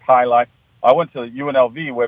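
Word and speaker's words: jai alai: what it is or how to say it but it's j AI a AI pronounced high life I went to UNLV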